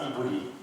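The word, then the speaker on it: עברי: 아니에요 원래 히브리인이 뜻 원래 보는 발음은 브리야 이브리 이브이가 뭐냐면 강을 걷는다는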